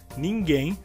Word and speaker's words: ninguém: No caso, a palavra nadie, a sílaba mais forte seria a inicial, na, e em português, ninguém, a sílaba mais forte também seria a final, gen.